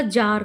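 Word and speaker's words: tsar: अब देखिए जो हमने पढ़ा होगा जार कई बार पढ़ा होगा आपने जार।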